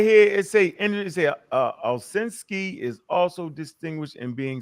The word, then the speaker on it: Ovshinsky: And the whole argument started over this guy right here, Stanford, or how you say his name? Oh, Valsky? Ovshinsky. Right. Ovshinsky. Right. Yeah. Ovshinsky.